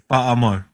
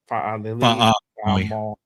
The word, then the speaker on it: Fa'amoy: When you see that apostrophe, that's what you call it? Yes. So see how it's a that's how you say it. So Fa'alili. Fa'amoy. So whenever you see that in island names, yeah, Fa'amoy. Yeah. Okay. All right. So it's not Lily Moy.